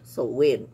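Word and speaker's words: Samhain: h i s a i n kaya ang pronunciation ay soin celtic is celtic war term pero sa ano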